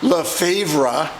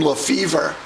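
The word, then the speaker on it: Lefebvre: like someone who's in the 1972 set jim le favora or as they usually pronounce it jim lefevre that's normal what isn't normal is hearing someone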